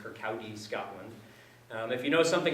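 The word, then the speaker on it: Kirkcaldy: in a tiny town called Kirk audi's gatos pronounced Kirk Aoi Scotland if you know something about the geography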